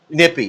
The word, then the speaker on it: Nippa: Raised in Nippa, Kentucky. Nippy. That's the other thing. If something ends in A in Kentucky, it's an E.